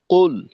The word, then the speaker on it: قل: এই প্রথম একেবারে শুরুটা, কুল, এখানে এই উচ্চারণটা হালকা একটু ওকারের মিশ্রণের মতো মনে হলো আর কি। কুল আরেকবার আপনি পড়বেন।